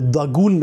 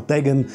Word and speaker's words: Dagon: Unter anderem wird er auch im Original Dagun ausgesprochen und nicht eben einfach Dagon. Das ist dann quasi die westliche Variante des Namens.